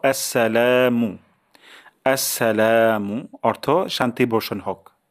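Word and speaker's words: السلام: প্রথম শব্দটি হলো আসসালামু এই যে আস শব্দটি খুবই গুরুত্বপূর্ণ অনেক সময় আমাদের হয়ে যায় স্লা আসসালামু আলাইকুম অথবা আসসালামু আলাইকুম সালা এমন উচ্চারণ চলে আসে তাহলে প্রথম উচ্চারণটা হলো আসসা আসসা তারপর লাতে এক আলিফ টান দিব আসসালামু আসসালামু অর্থ শান্তি বর্ষণ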